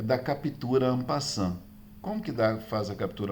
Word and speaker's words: en passant: Escreve en passant, mas se pronuncia en passant, ok?